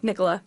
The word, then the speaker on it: Nicola: No, Nicola.